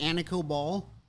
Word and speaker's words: Anikó: Anna COBOL is that how you say it Anna COBOL yes Kyle wants to know if you're related